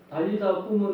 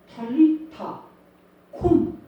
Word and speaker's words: 탈리타 쿰: 이 정확한 비슷한 발음은 달리다 굼은 이게 한국말로 바꾼 거고 탈리타 쿰 이런 뜻입니다.